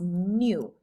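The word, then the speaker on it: ν: a more squiggly v in greek this is pronounced new i know kind of weird it's called an electron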